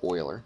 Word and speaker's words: Euler: think this guy named euler and actually you don't spell it e-u-l-e-r okay it's pronounced euler not euler looks like euler doesn't it but he pronounces it oiler i know i've looked